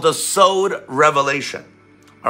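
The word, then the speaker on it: סוד: But it's called the Sowd Revelation. All right, not sowed like you sow a seed. Sowed, that's how you say it in Hebrew, sowed.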